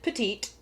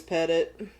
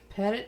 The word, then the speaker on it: Petit: the pettit family and while other people have pronounced it petite it is pettit pettit is the last name i do my research